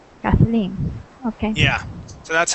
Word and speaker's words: Kathleen: this this name here it's pronounced with the accent at the end Kathleen Kathleen okay yeah so that's